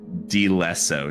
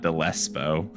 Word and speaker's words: Dleso: I actually have an editor note in here that says Dleso, not Dlespo.